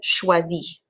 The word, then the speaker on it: choisit: Again, that T is silent. Il choisit. You don't hear the T, right?